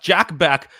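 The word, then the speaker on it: Bech: Is it Beck or what is it? I think it's Beck. Yeah. Beck. Okay, good. Jack Beck.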